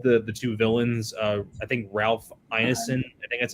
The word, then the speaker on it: Ralph Ineson: I think Ralph Ineson, I think that's how you say his name,